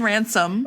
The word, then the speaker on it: Ransom: Kieran Ransom, which I've been saying all morning, rhymes with handsome.